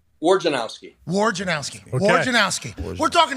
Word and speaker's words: Wojnarowski: What is proper pronunciation? Wojnarowski.